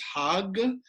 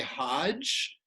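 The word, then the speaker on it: חג: The word translated as festival in the Hebrew is Hag. Many of us know that word. In its original Hebrew pronunciation, it was identical with the Arabic, that is to say Hajj, and it means the pilgrimage, right?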